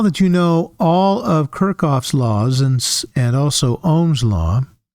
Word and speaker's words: Kirchhoff: His name is generally pronounced Kirchhoff, or Kirchhoff, probably more Kirchhoff. I usually pronounce it wrong. Sometimes Kirchhoff. I've heard lots of both ways.